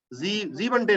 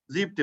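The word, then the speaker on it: siebte: फियरटे, फुन्फटे, सेक्सटे, जीवनटे नहीं होता, जीपटे होता है ना, इसमें दिक्कत है.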